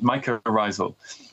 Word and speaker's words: mycorrhizal: Okay, and then there's the last term that I think is really interesting, is mycorrhizal. Am I pronouncing that right? That's right, mycorrhizal.